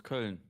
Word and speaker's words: Köln: No, it's Köln. Köln. Köln. No, it's an Ö. Yeah, Köln. Somehow you guys managed to make it like an R sound, even though there's no R in there.